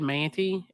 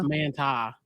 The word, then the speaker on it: Manti: We said Manti, and it's Manti.